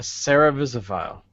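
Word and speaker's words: cerevisaphile: A Cerevisiphile.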